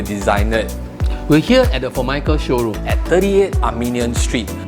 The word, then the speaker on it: Formica: For those that are not sure, it's actually not pronounced as Formica, nor is it called Omika, but in fact, it's pronounced as Formica.